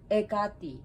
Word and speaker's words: Hekate: something you know so it's ecati the h is not pronounced so that's just my